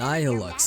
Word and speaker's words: Nihilux: Nihilux, that's how you say it.